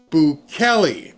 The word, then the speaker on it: Bukele: Barry, it's pronounced Boulli. Boulli.